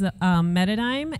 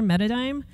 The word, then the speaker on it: Metadime: So my company is Metadime, and that is spelled Meta Paradigm, but together, Metadime.